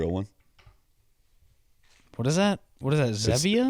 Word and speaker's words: Zevia: How do you pronounce it? Zevia. Zevia.